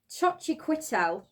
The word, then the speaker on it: Xochitl: Pronounced Xochitl.